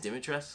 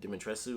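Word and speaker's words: Dimitrescu: i forgot dim demetrius i think it's dimitra's which a lot of people said dementressu or whatever a lot of people pronounce the you which apparently you're not supposed to that shocked me um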